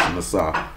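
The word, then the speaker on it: נָסָה: That Hebrew word for prove you is nasah, or nakah, but it's going to be pronounced nasah.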